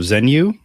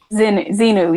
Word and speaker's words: Xenu: to erect a statue of Zenu, I believe his name is. Xenu, yes. Xenu. That's right. Xenu. Get it right.